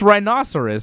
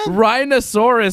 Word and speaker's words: rhinoceros: it's a dinosaur it's rhinoceros same thing man rhinosaurus sounds like some sort of dinosaur it's rhinoceros potato potato we always